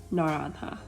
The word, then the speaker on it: naranja: The color orange is a little bit more complicated to say. It's pronounced naranja, naranja.